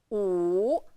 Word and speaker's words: 五: We pronounce it 五, 五, and then try to imagine the character.